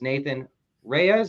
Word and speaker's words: Nathan Reyes: with me is second place also known as Nathan Reyes is that how you say your name that's